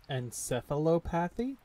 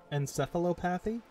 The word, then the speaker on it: encephalopathy: talk tonight what is this a huge anti-pathopathy encephalopathy thank you my brain is just foggy tonight